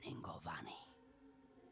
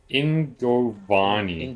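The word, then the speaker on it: Yngovani: the nearest is in Ingovani. Okay, I will never pronounce that correctly. Kept in the temple there. Starts with a Y, but they pronounce it with an I.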